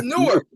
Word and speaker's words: Newark: You said it's Newark. It's Newark. Oh, Newark. Newark, New Jersey. Yes. Newark, New Jersey. The New York let me say, wait a minute. You're not about to say it wrong, sir. No, that's Newark.